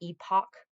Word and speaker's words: Epoch: this is from the epic times some people would say epoch that's if that's when you i'll say it that way so if you want